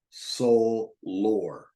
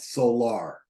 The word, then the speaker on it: solar: left hand side solar it's pronounced Soul lore not solar opportunity many of